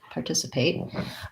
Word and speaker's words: participate: Participate. So this word has second syllable stress.